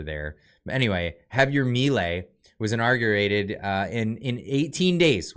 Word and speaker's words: Javier Milei: Is it Javier Milei? Because they don't pronounce the J's over there. But anyway, Javier Milei was inaugurated in 18 days.